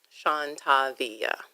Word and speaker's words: Shantavia: okay, so the Shawn is SHAWN. Okay. And then the Tavia is TAVIYA. Shawn Tavia.